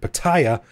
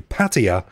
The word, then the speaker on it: Pattaya: on a mission to stop people from pronouncing it pattaya and tell them that it's actually patea and i'm still neck